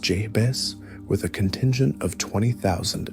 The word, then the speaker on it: Jebe: Genghis Khan ordered the most audacious military pursuits in history, dispatching Subutai and Jebe, pronounced Jebes, with a contingent of 20,000 elite cavalry on a massive, relentless search and destroy mission.